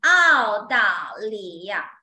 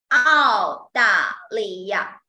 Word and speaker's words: 澳大利亚: So 澳大利亚 Australia. Country's name. Today we learn countries and nationalities. 澳大利亚 All with the fourth tone.